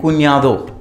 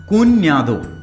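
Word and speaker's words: cuñado: Brother in लॉ को बोलते हैं कुन्यादो, ठीक है। ये याद रखिएगा, ये एन्या है, कुन्यादो।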